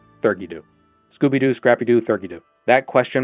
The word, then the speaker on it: Theurgy Dew: I've been told it's pronounced Theurgy-Doo, but Thurgy-Doo.